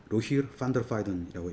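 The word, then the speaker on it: Rogier van der Weyden: 활동했던 로바르 깡 스링 그다음에 보통 로저 데바이 라고 발음을 하는데요 네덜란드식 발음으로 읽으면이로 로힐 펀더 파이던이라고 있습니다 그래서요 사람들의 작품을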